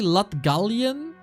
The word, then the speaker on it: Latgalian: Okay, apparently Latgalian is the right way to say it.